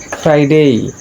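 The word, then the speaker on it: Friday: ফ্রাইডে, এই আর এর পরে আই ভাওয়েল, তাই ভাওয়েল থাকার কারণে আর এর উচ্চারণটি হচ্ছে, আর এখানে আর এর পরে কনসোনেন্ট আসছে, যার কারণে আর এর উচ্চারণটি হচ্ছে না।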